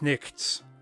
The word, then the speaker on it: knight: mock them as like knicks that's actually fairly close you know would be the actual middle english pronunciation of that word it's a clever joke